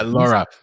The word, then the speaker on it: LoRa: of yo link is one of them and lora am i pronouncing that right yeah laura yeah so so laura is a technology it's